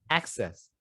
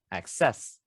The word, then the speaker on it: access: you should put the stress on the first syllable so it should be access instead of access those two have different meanings so yeah try